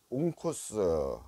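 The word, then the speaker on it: ὄγκος: 것은 헬라어 391번 있니다 어 온코스 코스라고 발음을 합니다 또는 이게 이제 덩어리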